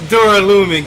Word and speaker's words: Duralumin: Ah, it is Duralumin case. Awesome! Thank you, Ibuki, for pronouncing that for me, because I was unsure if I was pronouncing that wrong or right.